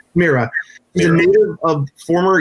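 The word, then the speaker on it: Mira Furlan: Is it Myra? Mira. Mira.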